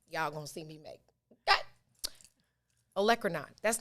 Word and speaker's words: olecranon: about people saying poinsettia and vinaigrette, I said olecranon wrong, and now I'm saying it right. So there you have it. That is the one mistake ever in life y'all gonna see me make. Olecranon.